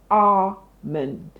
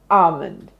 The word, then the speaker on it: almond: It's telling you that the L in that word is silent. And so we say almond. Almond. Almond. Don't say almond. No, you should rather say almond.